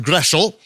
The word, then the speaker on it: Groeschel: For example, my name, Groeschel, it's actually a German name. It should be pronounced Groeschel.